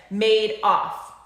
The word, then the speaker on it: Madoff: to pronounce it and he said made off like he made off with the people's money if i named a